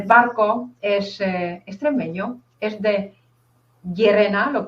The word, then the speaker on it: Llerena: Y Antonio el Barco es extremeño, es de Llerena, ¿lo pronuncio bien?